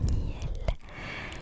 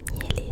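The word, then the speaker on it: Nihele: Ensuite, nous avons Niel. Je ne sais pas si c'est Niel ou Nielé, ça s'écrit N-I-H-E-L-E.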